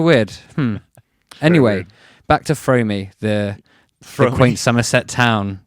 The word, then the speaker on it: Froome: back to Fromey, the quaint Somerset town, not the full-time Oh, is this a real place? friend There's a of real David Fromey? Rosman. Yeah, no, Frome, not Fromey.